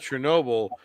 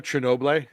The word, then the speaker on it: Chernobyl: Well, what's funny about Chernobyl was it came out the week after Game of Thrones ended.